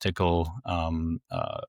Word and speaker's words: TCL: They did all the cross-platform stuff for TCL, which is pronounced tickle, other languages to make them cross-platform.